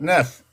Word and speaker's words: neuf: They say neuf in French. That's how they say it, neuf.